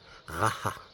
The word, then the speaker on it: Jara: Jara. Parce que le J c'est un ra. Jara. C'est assez difficile à prononcer.